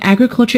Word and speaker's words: agriculture: of the word agriculture the word agriculture is a noun and it is stressed on the first syllable when we turn it